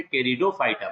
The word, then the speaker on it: Pteridophyta: यहाँ पे student P silent है, ये ध्यान रखना है यहाँ पे कि पी क्या है, साइलेंट है। तो आप स्पेल तो आप पी से शुरू करेंगे, PTERIDOPHYTA, लेकिन प्रोनाउंसिएशन में पी नहीं बोलेंगे, सीधे क्या बोलेंगे, टेरिडोफाइटा बोलेंगे।